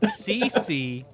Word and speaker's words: Ceci: says hello Laura seekers my name is ceci oh she put this in parentheses pronounced CC for you jibs well thank you